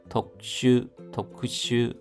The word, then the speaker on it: 特殊: 고케이 합계 독슈 하면 특수입니다. 슈가 짧은 발음입니다.